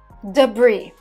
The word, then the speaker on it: debris: in a few weeks debris debris silent s debris refers to everything